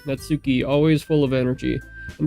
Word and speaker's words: Natsuki: I feel like the purple-haired girl's name is going to be easier to pronounce. Possibly, maybe. Anyway, Hold on. Netsuki. Natsuki.